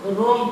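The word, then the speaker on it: wrong: जैसे इसको हम लोग रोंग पढ़ते हैं, वरोंग नहीं पढ़ सकते। रोंग मतलब गलत होता है, क्योंकि W के बाद जो R आया था इसलिए W साइलेंट हो गया है।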